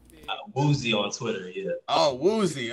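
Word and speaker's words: Wouzy: There he is, Wazzy. Is that we pronouncing it right? Woozy on Twitter, yeah.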